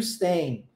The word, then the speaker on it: staying: And how long are you staying? Esse G no final não é pronunciado.